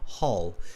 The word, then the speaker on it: hull: new word for you it's pronounced the hall hall h-u-l-l yeah just like a hallway in a building like in the school the hallway it's the same concept it's the hall of